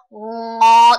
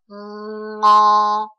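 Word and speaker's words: ง: ngo 的话呢它的发音大家直接发音的时候把嘴巴张开然后用鼻音来发音发一个 ngo ngo ngo 它跟粤语也就是这个广东话里面的这个 ngo 发音是相似的只是他们声调不同而已这一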